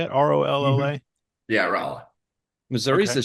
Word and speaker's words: Rolla: Rolla?